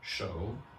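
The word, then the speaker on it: 首: There is another word pronounced exactly the same, but of course spelt differently in Chinese, shou, meaning leader or head.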